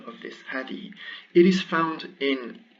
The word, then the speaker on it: هذه: So this is the pronunciation of this hadi.